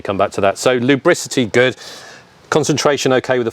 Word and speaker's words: lubricity: Is it lubricity?